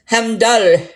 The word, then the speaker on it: Heimdall: The proper Norse pronunciation, Heimdall, with the little bit of a roll on the L and the R at the very end.